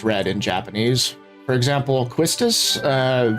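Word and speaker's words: Quistis: For example, Quistus. Uh, the way that her name is written in Japanese is pronounced Kistus.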